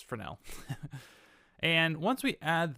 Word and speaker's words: Fresnel: going to type in frenel is how you say this it looks like fresnel but trust me it's frel and and once we